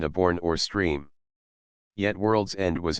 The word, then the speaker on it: World's End: this Lonesome spot was appropriately named World's End or it was locally pronounced wordles end the undulating down surrounded